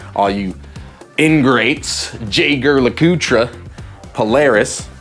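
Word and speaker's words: Jaeger-LeCoultre: Next, I would go for JAEGER LECOULTRE, for y'all that don't know how to say it right. All you ingrates, JAEGER LECOULTRE, Polaris, right?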